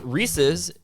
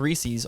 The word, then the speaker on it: Reese's: york post it says reese's and it's not pronounced reese's all of you heathens reese's making chocolate free all